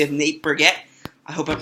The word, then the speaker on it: Burgett: y'all how are you Jackson M of Nate Brigette I hope I'm pronouncing your last name right yep you nailed